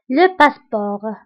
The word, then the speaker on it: passeport: فبالنسبة لو باسبور كنكتبوها بالتي في آخر الكلمة ولكن لا تنطق. Le passeport.